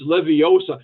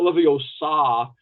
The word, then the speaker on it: Leviosa: was trying to explain it's Leviosa not levosa it's like so how